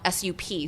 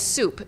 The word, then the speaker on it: Sup: It's called Soup, but it's spelled out S-U-P. So non-Vietnamese people would call it sup, but it's soup, meaning just soup broth.